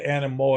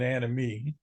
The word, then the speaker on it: Anemoi: happened here except that in the case of anoy uh in Greek the oi sound oi character sound the O is silent it's always an e sound not an I so it wouldn't be an Animo it' be an anime so doesn't quite sound